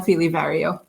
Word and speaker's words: Feeley-Vario: It's Fely Vario.